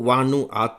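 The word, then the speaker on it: Vanuatu: खबर है दोस्तों वो वानु आत से संबंधित है वानु आत कुछ अखबारों ने इसे वनात भी लिखा है स्पेलिंग है वी ए एन यू ए टी यू वानु आत यह दक्षिण प्रशांत का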